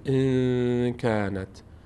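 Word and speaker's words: إن كانت: خب این چطور تلفظ میشه؟ میشه ان قل ان کانت ان کانت در این در این کلمه ما الان اینجا اخفا داریم.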